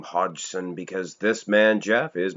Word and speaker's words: Hodgson: Well, I do know how to pronounce this name, Hodgson, because this man, Jeff, is my cousin.